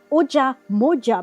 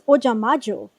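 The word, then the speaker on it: Ojamajo: Because again, I want to say Oja Moja, but that's not what it is. It's Oja Majo. Because Majo is magic.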